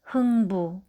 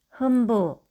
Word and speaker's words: 흥부: 이응과 비읍이 만나면 왕비, 흥부. 미음과 디귿이 만나면 검도, 침대. 인데 말을 배우고 있는 아기나 발음에 서투른 사람이 간혹 몬돌, 앤두, 완비, 흠부, 건도, 침대처럼 소리 낼 때가 있습니다.